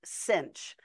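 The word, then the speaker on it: sinh: the hyperbolic sign is pronounced cinch of X and it's e to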